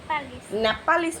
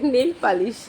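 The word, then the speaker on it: nail polish: যে এই কালারের লিপস্টিকটা, নেপালিশ নয়, নেল পালিশ, হ্যাঁ উচ্চারণ হয় না, কিন্তু মানে অনেকগুলো করে নিয়েছে, কিনে নিয়েছে, এই যে এই কালারটা কিনেছে।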